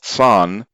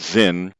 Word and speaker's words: Zin: located in the wilderness of san mispronounced zin at the edge of